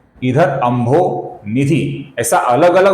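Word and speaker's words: अम्भोनिधि: यहां पर कुछ लोग बीच में र का उच्चारण करते हैं। अर्थात अंभोर निधि ऐसा गलत उच्चारण करते हैं। यहां पर किधर भी अपूर्ण र नहीं है दोस्तों क्योंकि विसर्ग ही नहीं है बीच में।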